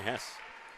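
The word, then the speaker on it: Hesse: And I'm going with Hess for any RTR Night fans listening in. I worked with a guy who spelt the same, H-E-S-S-E, and pronounced it Hess, so that's what I'm going with.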